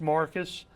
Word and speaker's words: Marques: something and uh but we Alabamaized it a little bit and uh we changed it and uh so it's Marcus.